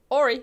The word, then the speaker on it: Horry: Christo said ori is a French surname. The h is silent.